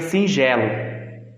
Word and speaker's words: singelo: Sendo que a palavra certa, singelo, ela é escrita com G, mas se a gente for pronunciar, ela vai ter o som de J.